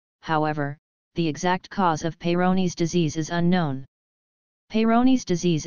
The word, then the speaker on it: Peyronie's: is available what is payro knees disease Peyronie's pronounced Peyronie's disease is caused by a plaque under the